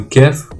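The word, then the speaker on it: ك: Le kef, il se prononce comme un K.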